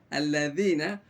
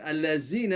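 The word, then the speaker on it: الذين: Nah, maka kalau lidahnya benar, letak, kalau dulu Ustaznya mengatakan digigit, alladzina, insyaallah dia tidak akan keluar huruf zai. Bukan allazina tapi alladzina.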